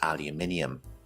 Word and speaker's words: aluminium: In American pronunciation, this word is called aluminum, and in British English, it is aluminium.